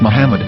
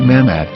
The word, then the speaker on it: Muhammad: say Hebrew English dictionary it is correctly pronounced as Muhammad not mammad so how we're going